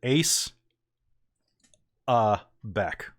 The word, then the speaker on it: Aesza'Bek: several times over so you can just literally pronounce it ace uh back okay got it like